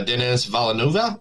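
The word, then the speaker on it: Denis Villeneuve: um the director of Dune 3 Mr uh Dennis valenova is that how you pronounce that correctly yeah I love that guy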